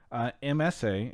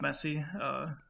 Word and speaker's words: Messi: MSA, is that how you say it, or is it Messe? It's just Messi. Name's Jesse.